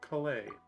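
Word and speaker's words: Collei: having a chat with colay we can ask her it's spelled with an O though why is it making ah sound College so this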